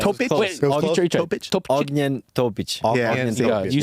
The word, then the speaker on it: Ognjen Topić: Ognjen Topić. Yeah, you say it. Topić, dude. Topić.